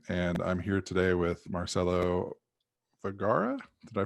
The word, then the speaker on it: Marcelo Vergara: with firefly msp and i'm here today with marcelo vergara did i pronounce that right that's correct yep just like